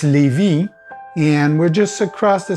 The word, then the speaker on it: Lévis: Well, the name of the city we're in is called Lévis. It spells exactly like the jeans Levi's, but we don't pronounce the S. So it's Lévis, and we're just across the St.